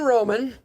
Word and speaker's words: Romann: luminate home loans new to the studio brandon roman did i pronounce that right you sure did is there